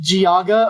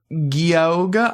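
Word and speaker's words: Geauga: And it does not look like it's spelled that way. Yeah, I'm Gaga. Wow. Wow. Cuz it looks You'd think it would be like Goa or Gogga. I don't know. But Giaga is correct.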